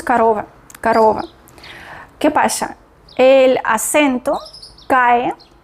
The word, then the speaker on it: корова: корова, allí, y cuando el acento cae, ¿sí? Tenemos la sílaba tónica. Esta sílaba la pronunciamos con mayor fuerza y también O suena como O. Otras O nosotros pronunciamos con menor fuerza, menor calidad y menor cantidad. Entonces O ya no es O, sino pronunciamos A. Sería корова.